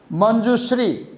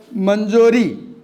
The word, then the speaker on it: Manjushree: The writer's, or let's say, the narrator's name is Manjushree, and the receptionist pronounced it as Manjori.